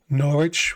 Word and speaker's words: Norwich: pronounce it in America, but I know in England it's basically, excuse me, it's like "Norrich" without the w or whatever.